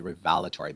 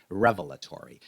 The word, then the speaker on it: revelatory: Now he pronounces this word differently. He says revelatory, but I'll put the stress on the first part and say revelatory.